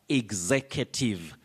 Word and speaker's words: executive: mayaka but you say executive or executive your first word you say executive you can also pronounce it as executive then the second word